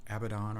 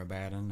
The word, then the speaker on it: Abaddon: probably my two favorites the Abaddon or abadan however you want to pronounce it was one of my